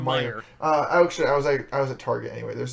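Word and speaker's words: Meijer: I was at Myers, and is that how you pronounce that store name? Yes. Nope. There's no S. There's no S. Whatever, it's Meyer.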